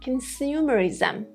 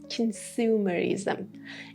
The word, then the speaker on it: consumerism: Also, the negative form of consumption, having too much consumption, is consumerism, or the American version, consumerism. Consumerism. In all of these words, These O letters are pronounced with the schwa sound.